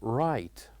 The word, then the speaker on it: right: for example the word right. Right. So here in this word we did write G and H but we don't pronounce it.